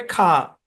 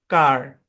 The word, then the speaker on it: car: ব্রিটিশে এর উচ্চারণ হবে খা। আমরা কয়জন কা বলি? আমরা বলি কার।